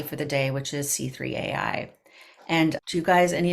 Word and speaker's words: C3.ai: Is it C3AI or do they say C3.ai? I have questions. I looked it up. It's C3 dot. C3PO. Yes. Yes. That's how they say it.